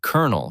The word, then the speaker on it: colonel: It has baffling spelling, 17 irregular verbs, and the word colonel, which is pronounced kernel for reasons that make linguists visibly upset.